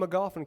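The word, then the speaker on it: Magoffin: He's from McGoffin County, so we're not going to hold that against him. Rhymes with coffin.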